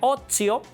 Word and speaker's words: otium: Bueno, se escribe otio, se pronuncia ozio, la T más la I y otra vocal en latín suena como tss, tss.